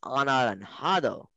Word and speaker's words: anaranjado: In Spanish, you write a J, but you pronounce it as an H. So you write anaranjado, which means orange, and then you pronounce anaranjado.